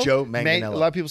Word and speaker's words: Manganiello: It was Manganiello. Oh, Joe Manganiello. A lot of people say Mangianello.